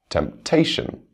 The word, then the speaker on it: temptation: Beautiful, property, government, temptation. It's D. Temptation. You can hear the stress on the second syllable, as opposed to the stress on the first syllable in the other 3 words.